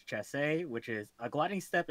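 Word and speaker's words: chassé: one quick what's up guess ben says it's pronounced chasse which is a gliding step in dancing in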